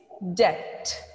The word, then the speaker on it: debt: to learn now here we will not pronounce bur sound louder it is debt the first word is